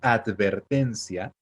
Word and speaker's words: advertencia: La palabra advertencia es advertencia, pero normalmente alguien diría advertencia, advertencia. Entonces, así pasa, ¿no? Esa letra D, nosotros solemos pronunciarla como T en una sílaba como esa, ¿ok?